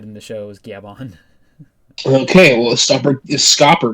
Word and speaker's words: Gaban: It's not Gaban, it's Gaban. I won't read it that way until I have confirmation by hearing it in the show. It's already been said in the show as Gaban.